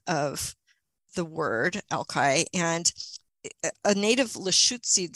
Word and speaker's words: Alki: she pronounced it was eshke and I'm probably not really doing just as that but ishki with a little bit of gurgle in the back of your mouth you know eshke and you know how